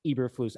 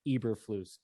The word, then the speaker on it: Eberflus: It is Flus, Matt Eberflus.